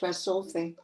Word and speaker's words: Tresulfe: California, Braga, Portugal, and Tresulfe. Is that how you pronounce that? That's it, Tresulfe, yeah.